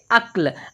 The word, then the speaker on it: अक्ल: अब ध्यान देने वाली बात है दोस्तों कि यहाँ पर जो आधा का है वो उसका उच्चारण हम बहुत ही कम समय के लिए करेंगे। तो पढ़ेंगे अक्ल। अब यहाँ पर देखें, यहीं पर यदि ये पूरा का होता तो इसे पढ़ते अकल। अकल।